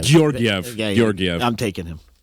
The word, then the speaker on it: Georgiev: Gorgiev. Georgiev.